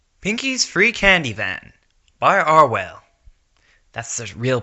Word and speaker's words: Arwhale: Pinky's free candy van by arwell that's the real pronunciation he told me pronunciation Twilight ran her